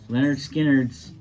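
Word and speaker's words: Lynyrd Skynyrd: ticket um and that and what it is leonard skinner's uh pronounced leonard skynyrd this is an album that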